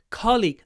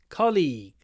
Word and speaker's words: colleague: Australia so colleague kle colleague the stress is on the first syllable it's a CO League colleague because the second syllable is longer people often think that it's the stressed one no it's colleague Co colleague um and